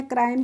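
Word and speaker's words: crime: हम क्या करते हैं, ई का जो प्रोनाउंसिएशन यानी कि उच्चारण होता है वो नहीं करते, इसीलिए इसे हम क्रोम पढ़ते हैं या क्राइम पढ़ते हैं। इनको हम क्राई में या क्रो में इस तरीके से नहीं पढ़ते हैं, ठीक है।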